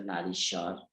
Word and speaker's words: Nariswar: She's editor of Nariswar, Women's Voice. In Bangla, we pronounce it as Narishwar, it's the same word.